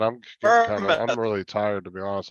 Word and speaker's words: Bournemouth: Now, I said Bournemouth.